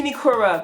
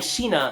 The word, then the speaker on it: Shiina: I said Shinikura. Shiina. They say his name once, the hot guy. That's his name, Shiina.